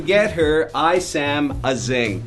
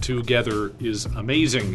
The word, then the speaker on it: Together is Amazing: Your syllables are off. Together is amazing is how it's supposed to go. Okay, I put the emphasis on the wrong syllable.